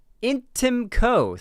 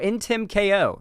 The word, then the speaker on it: Intimko: Intimco, thank you for the $10. I really appreciate it. Said Intimco. Oh, Intimko. Oh, Intimko. Okay, cool. Intimko, that's how you say it, lol.